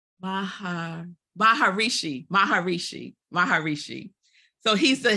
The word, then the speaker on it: Maharishi: I always say his name r wrong Mahar Maharishi Maharishi Maharishi so he's the Hindu religious leader